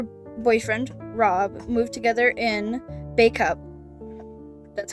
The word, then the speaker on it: Bacup: In 2007, she and her boyfriend, Rob, moved together in Bacup. That's how it's pronounced.